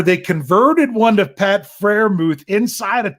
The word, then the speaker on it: Freiermuth: It's not Muth. It's Muth. Yeah. Like more like the Greek letter.